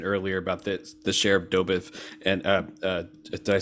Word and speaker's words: Dobeck: Zach, you mentioned earlier about the share of Dobeck, and did I say that right?